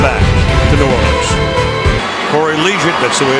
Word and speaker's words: Liuget: Corey Liuget, that's the way it's pronounced.